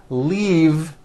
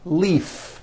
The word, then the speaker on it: leave: glove alive and leave this last word leave is very different from the word leaf like from a tree which has an unvoiced F the word is leave with a voiced V keep the voice in